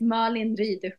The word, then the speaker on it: Malin: I'll read the rest my name is Marin it's a Swedish name so it's difficult to pronounce yes gorgeous thank you